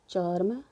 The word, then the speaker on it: चर्म: ऐसे ही हमारा है चर्म, ठीक है, चर्म, ये इसका उच्चारण, इसका उच्चारण कैसे होगा हमारा, इसका उच्चारण हमारा कहाँ होगा, यहाँ बीच में होगा, च और म के बीच में।